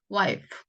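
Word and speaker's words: wife: F 발음만 조심하시면 되세요. 여기서 와이프, 우리가 와이프라고 하지만 원래 F 발음이 후 발음이기 때문에 와이프, 와이프 이렇게 읽으셔야 되죠.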